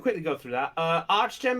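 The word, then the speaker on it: Archgem: go through that uh arch gem is spelled a r c h g e m b which is simply just arch like a bridge arch and a gem okay thank you i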